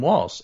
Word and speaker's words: Walz: This is Tim Walz. And, how do you pronounce his name? Balls to the walls.